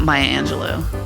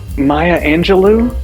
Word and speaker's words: Maya Angelou: and the collective past it's not Maya Angelo Maya Angelou not Maya Angelou is it it's Maya Angelou today's dead celebrity is Maya Angelou I didn't even say it right Maya Angelo I've been saying Angelou my whole life and it's actually Angelo love you and love you back